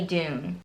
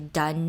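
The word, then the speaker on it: Dunne: Also getting noticed is the Six, a band led by brooding Billy Dune. As I'm editing this video, I realized I said Billy's last name wrong. It's actually Dunn, not Dune, which is really silly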